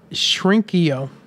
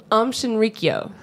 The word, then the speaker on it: Shinrikyo: Shrinkio. I have no idea. Did I say that wrong? Yes. So say it right. Shinrikyo.